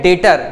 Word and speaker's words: debtor: यहां पर DEBTOR ऐसा लिखा जाता है, लेकिन इसको बोलते हैं डेटर, ये बी साइलेंट रहता है, डेटर बोलते हैं।